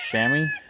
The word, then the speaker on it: chamois: Now this color here is called buff lace in the States, or chamois, I believe, in the UK. I don't know how to pronounce it.